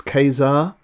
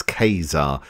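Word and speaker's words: Ka-Zar: come up from the show it's um it's Kazar if you ever wondered how to pronounce this it's Kazar so it's it's k-a-z-a-r did I ever put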